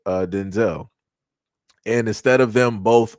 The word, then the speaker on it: Denzel: Like I said, uh Denzel Washington is not pronounced Denzel Washington. It's pronounced Denzel, which is crazy.